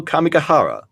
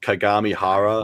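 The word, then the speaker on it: Kagamihara: from Golden Kamui, Nadeshiko Kamikahara from Laid Back Camp, Mai Sakurajima from Rascal Does Not Dream of Burning Girl Senpai. I stumbled because I realized I mispronounced Kagami Hara.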